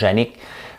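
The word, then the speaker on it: Janik: Le nom de mon frère, c'est Yannick, mais J-A-N-I-K. Ça se prononce Yannick, parce que mon père avait un trip de dire, il voulait s'obstiner avec le curé.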